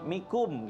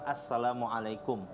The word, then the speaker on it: assalamualaikum: apalagi orang-orang kita nih kalau masuk rumah samikum bahasanya kan mikum gitu. Padahal salah dalam pengucapannya dia. Ketika dia masuk ke rumah dia ucapkan bismillah terus dia bilang assalamualaikum.